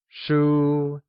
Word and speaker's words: 书: 书 is pronounced with a high level tone.